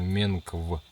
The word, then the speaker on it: Менкв: По-научному он называется реликтовый гоминоид, а по-мансийски он произносится как, ну я буду по буквам, чтобы вы расслышали. Первая буква М, потом Е, потом Н Николай, потом К Константин и В Владимир. Получается Менкв.